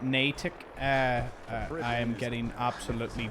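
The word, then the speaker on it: Natick: Uh, by the way, on one of my latest shorts, I pronounced it as Nadic Banks and not Natic.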